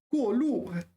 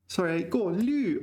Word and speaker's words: 过滤: 过路. Okay, so here we need to be a little bit careful because there's two 过路s, right? So 过路. No. 过滤. I pronounced it wrong.